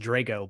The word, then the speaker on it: Drago: That's exactly who actually I think his last name is pronounced Drago, but uh yeah.